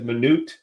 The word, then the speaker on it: Minut: And so today we've got um it's pronounced two different ways. I know it as Manoot uh but Nathan just informed me that it's pronounced minute here in the States.